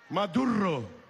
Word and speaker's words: Maduro: el imperio más duro así me dicen ellos así se pronuncia en inglés matthew rock más duro suspenden las